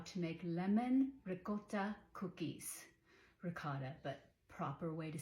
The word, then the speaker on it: ricotta: show you how to make lemon Rota cookies ricotta but proper way to say it rot it's